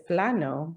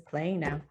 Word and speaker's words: Plano: Yep, and there's a huge city in Texas called Plano, but it's Plano, but everybody says Plano.